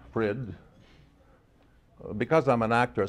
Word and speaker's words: Frid: or van or Fitz but Fred it is no Cadence no Melody just Fred well at least you wouldn't think that anyone would have difficulty pronouncing it but I've heard everything Fred freed frit food fried and even Freud well when I was